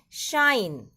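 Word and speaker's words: sinh: Hyperbolic sine, proper pronunciation is shine, and hyperbolic cos, proper pronunciation is cosh.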